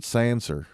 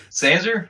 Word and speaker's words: Sansa: Yeah, well, it's spelled Sansa, but Ned Stark I'm fucked up. Ned Stark called her Sansa. Oh, okay, all right. He I put that ER on it. That's part of his accent, so it's a habit.